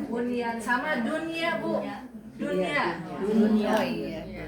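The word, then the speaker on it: بنيان: Bonianun ya Bani Bonian nah kan harusnya kan Buani gitu kan karena kan nun mati ketemu ya nih nih tapi ini karena satu kata dibacanya bunyan sama dunia Bu Dunia iya kan harusnya duy ya.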